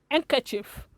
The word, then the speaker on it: handkerchief: the correct pronunciation is anchor chief the d is silent and some handkerchief and